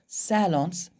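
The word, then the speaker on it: salon: आप लोग फिर भी अगर पढ़ना है ढंग से, आप लोग चाहते हो एकदम अच्छा वाला प्रोनाउंसिएशन, तो सैलों पढ़ना, ठीक है? सैलों, सैलों, ठीक।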